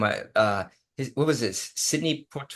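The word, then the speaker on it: Sidney Poitier: Sydney Port. How do you say his name? Sydney Portier.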